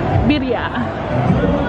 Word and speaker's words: birria: Birria is how you say it correctly, but they have a birria taco truck.